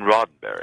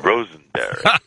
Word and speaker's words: Roddenberry: I mispronounced his name. I called him Mr. Rosenberry, and he, in turn, also made a mistake in pronouncing my name.